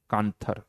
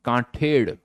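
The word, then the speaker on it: Kanthed: full form कांथर वैसे कांथर नहीं है इट इस कांठेड़ बट कांठेड़ की जो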